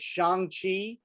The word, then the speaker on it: Shang-Chi: To your credit, you have been pronouncing it Shang-Chi since like day one when we started fucking doing this podcast stuff.